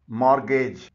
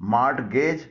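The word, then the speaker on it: mortgage: इसे subscribe latest तो मॉर्गेज इसके मायने है रहन गिरवी इस मिट्टी साइलेंट है इसे मॉर्टगेज ना पड़ेगा इसका सही प्रनंसीएशन है मार्गेज रिसीव इसके मायने हैं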